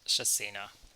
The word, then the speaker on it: chacina: Hasina, maybe? Here we go. Chacina. Shasina. Okay. According to some random bot on the internet, it's pronounced Shasina.